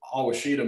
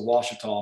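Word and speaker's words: Ouachita: will pronounce this the hawashita mountains but it's just pronounced the washita mountains just exactly like the washita river of course this is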